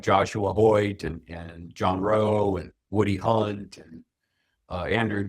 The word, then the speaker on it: Rowe: Yes, John Rowe, ROWE.